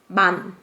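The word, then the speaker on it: 만: It's called man.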